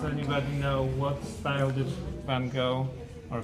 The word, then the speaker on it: Van Gogh: And does anybody know what style did Van Gogh or Van Gogh? That's the correct pronunciation, actually, more or less, because I knew Dutch.